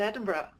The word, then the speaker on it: Edinburgh: I was born and raised in Edinburgh.